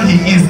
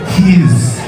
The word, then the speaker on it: HEIS: When you're pronouncing this album name, it's not Heis, it's Heis.